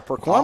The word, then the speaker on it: Perquimans: He's a sophomore out of Elizabeth City, North Carolina, Perquimans High School, if I'm pronouncing that correctly. Yes, you are, Perquimans.